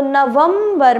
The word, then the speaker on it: नवंबर: उसी तरीके से जैसे नवंबर, तो नवंबर में आधा म का प्रयोग हो रहा है, यहाँ पे आधा म